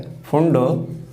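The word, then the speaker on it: Pfund: फंड series कहते हैं तो पी यहां पर साइलेंट है फंड सीरीज फंड नहीं पढ़ोगे फंड सीरीज है तो इस तरह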